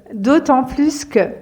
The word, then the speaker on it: d'autant plus que: durables autant plus que d'autant plus que prononcez bien le S ici d'autant plus que donc